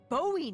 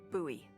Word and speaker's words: Bowie: no warning he pulls out this huge Rusty Bowie knife oh my God it's actually pronounced buoy what really no it's like the last name